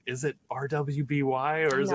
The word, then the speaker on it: RWBY: never heard anyone say I'm like is it RWBY or is it Ruby like YMCA you're fine I know YMCA is